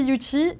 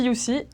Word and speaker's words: Youthie: Alors, moi je dis Yuti et tout le monde dit Yusi. Et voilà, donc après, il n'y a pas de vérité, hein. Mais c'est vrai que moi je dis Yuti pour la bonne raison